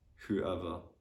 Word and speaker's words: whoever: Yeah, also normally the letter W is silent if it is followed by H and O. So for example, in the words who, whoever, whole, whole, in this kind of words that W is silent as well.